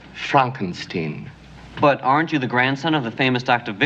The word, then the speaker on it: Frankenstein: That's Frankenstein. I beg your pardon? My name it's pronounced Frankenstein.